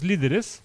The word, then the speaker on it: líderes: L-I-D-E-R-E-S with the accent on the first I. Yeah, on the I. There you go. One's the leaders, Os líderes, and one is internal enemies.